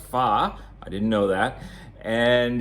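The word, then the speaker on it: phở: dish uh it's pronounced PHA even though it's spelled p-h-o you it's not it's not pronounced faux it's pronounced far I didn't know that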